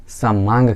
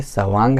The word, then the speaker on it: सवांग: उसमें भी मैंने बताया था कि सवांग शब्द का गलती से लोग उच्चारण समांग करते हैं। समांग जो कि गलत है, ये सवांग है अर्थात स्व अंग, जैसा कि मैंने कह दिया है, बता दिया है।